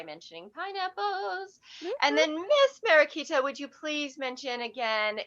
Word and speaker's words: Mariquita: realize business page all right my name is marikita and that's m a r i q